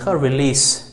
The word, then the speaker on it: release: ریلیز س تلفظ کیږي ریلیز. صحیح ده.